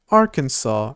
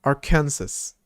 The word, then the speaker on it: Arkansas: But go a little south and you end up in this state which is pronounced Arkansas and not our Kansas.